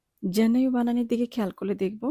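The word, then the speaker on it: gennaio: জেন্নাইও, জেন্নাইও বানানের দিকে খেয়াল করলে দেখব সবার প্রথমে আছে জি। জি এর উচ্চারণ আমরা কিন্তু জয়ের মতো করব, গয়ের মতো করব না।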